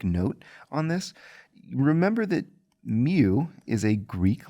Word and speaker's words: mu: on this remember that mu is a greek letter it's pronounced mu kind of like the pokemon and it is the